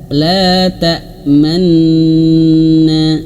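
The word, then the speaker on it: لا تأمنّا: La ta la tamna. Ah, lana. Jadi, ee ditahan nun bertasydidnya ditahan. Tapi cara menahannya itu adalah dengan ee dimuncungkan bibirnya sebentar baru dilepaskan. La tamna begitu. La tamna jangan la tamna.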